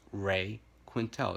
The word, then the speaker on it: Quintal: Once again, that's Ray Quintel. It's spelled Quintal. No E in there.